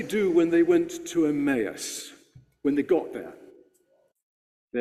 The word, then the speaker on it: Emmaus: Emmaus, that's right. It's a difficult word to say, isn't it? I once heard someone read that lesson and call it Emmaus, but Emmaus is the usual way to pronounce it.